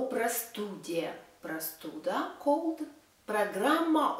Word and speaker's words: простуда: Простуда, cold.